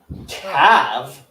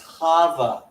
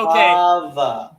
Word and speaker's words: Chava: Cav? Say it correctly. It's Chava. See, okay. Chava.